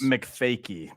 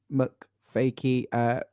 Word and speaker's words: MacFakie: MacFakie, by the way, is how you say this gentleman's name. Yes, MacFakie.